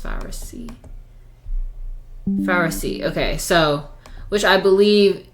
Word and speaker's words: Pharisee: is primarily about religious hypocrites, which is it pronounced Pharisee? Pharisee.